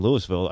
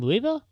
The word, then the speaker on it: Louisville: In Louisville? Louisville. That's how they say it there. Really? Not Louisville, how they say it in Kentucky, but they say it Louisville. Spelled the same.